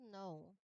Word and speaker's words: know: When we pronounce know we actually only produce two distinct sounds. So, let's look at the explanation. K is silent. O makes one sound.